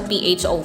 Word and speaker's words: pho: So, yun daw yung pronunciation dun sa PHO, pho.